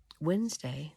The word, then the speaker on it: Wednesday: Advent Adventures he had Wednesday which was called woden's day is named after him that is why there is a letter D in the word although we don't pronounce it looks like witness day